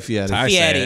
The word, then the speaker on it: Fieri: Guy Fieri. Fieri. He's Italian, so I say it. It's Fieri.